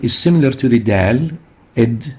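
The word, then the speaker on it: ض: Id is pronounced articulating between the upper molar and the sides of the tongue, and that's why we classify it as a lingual tongue letter, id.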